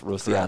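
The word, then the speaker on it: Rociada: Rosiada, mm-hmm. I believe. Rosiada, correct.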